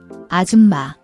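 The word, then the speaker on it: 아줌마: Watch your pronunciation, the sound is tricky. It's not a hard J like in jump, but a softer, slightly aspirated CH sound, like in church but without the T before it.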